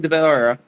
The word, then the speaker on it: De Valera: by what would let's say for the record, Eamon de Valera was half Spanish, De so I can get away with it.